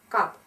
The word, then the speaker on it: cup: Cup – то же самое. Чашка. Cup. U читается как краткое A.